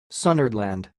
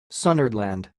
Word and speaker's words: Sunnhordland: to tell you how pronounce this word the pronunciation of this word is sounds like sundered land sunderland and again sundered land sundered land that's all